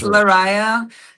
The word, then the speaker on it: Lariyah: And so let's welcome to the show Lariyah from DieveNoire. That's right. Hi. Did I pronounce it okay? Because hate if no worries. It's Lariyah, and the band's name is DieveNoire.